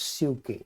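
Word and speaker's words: ψυχή: And then the word for soul is, in English we would say psyche, it's pronounced in Greek as psyche, but it's written the same way with an E with an accent.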